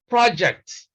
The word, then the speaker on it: project: piece of work undertaking we place stress on the first syllable and we say project have you completed the